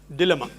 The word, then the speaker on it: dilemma: Dilemma or dilemma, both agreed.